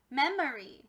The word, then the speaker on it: memory: the whole word memory my friends this is a schwa so instead of it being a long o or a short o it's actually an uh sound and that makes it a schwa so our whole word is memory and this y at the end has a long e sound because it has